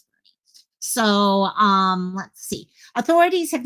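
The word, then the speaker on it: Boerne: And yes, Bernie is how you pronounce that. I learned that the really hard way when I went home to my auntie, and I'm like, oh yeah, I had to go towards Bern, and she's like, Bern?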